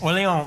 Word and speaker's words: Orleans: Pronunciation? Like New Orleans? Yeah. Yes, Orleans. That is right for 40 points.